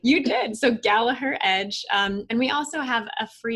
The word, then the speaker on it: Gallaher: So Gallaher Edge.